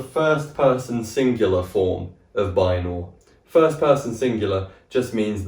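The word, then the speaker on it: βαίνω: with this one we're going to start with Bor this is spelled beta Alpha Iota new and the then Omega so this is Bor and it means I go or I am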